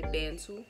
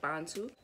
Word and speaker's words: Bantu: Y'all already know I don't say Bantu, because the right way to say it is Bantu.